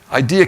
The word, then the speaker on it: idea: Idea capitals. Now, I pronounce that with an R, I know, because I'm from Brooklyn, but it's IDEA, ideas, okay, idea capital.